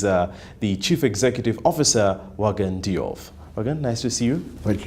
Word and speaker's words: Wagane Diouf: the set is uh the chief executive officer wagan diov nice to see you thank you thank you